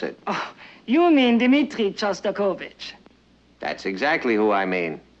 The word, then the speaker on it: Shostakovich: maybe we'd better be going we're hearing a sauce turbo kit you know that's Shostakovich and since you're a